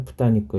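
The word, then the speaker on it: 豚肉: 이것 을 읽을 때 는 ' 토리니쿠 ' 가 아니라 ' 부타니쿠 ' 라고 읽어야 합니다 .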